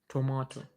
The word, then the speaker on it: tomato: In the US tomato. Remember that flat T that we looked at? Not to the vowel changes to but also the T changes to that.